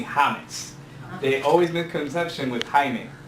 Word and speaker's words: Jaime: They always misconception with Jaime. Jaime to me was Jamie, so I get that a lot. Jaime, Jaime, Jaime.